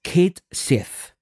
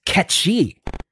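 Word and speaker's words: Cait Sith: Square enx posted on their Twitter that it's pronounced Kate Sith then everybody was like what it's caty because it's a Celtic gelic name I guess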